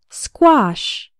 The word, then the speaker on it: squash: in the word square the letter A has the a sound like in father and wash and the final sh sounds like in fish and cash say the word after me squash the word squash refers